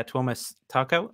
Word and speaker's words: Tuomas: it's like is it like the scandinavian pronunciation of thomas or thomas that's that's